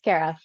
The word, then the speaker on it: Kara: It's not Kara, is it? Yeah, you got it right the first time. It's Kara.